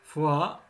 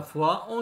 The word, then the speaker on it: foie: foie, le foie.